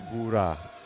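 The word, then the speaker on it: Buğra: It could be Bagra. The soft G in the middle of it is mute. Is Bura. Bura.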